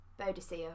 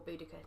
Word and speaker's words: Boudica: Boadicea or Boudica, depending on how you pronounce it.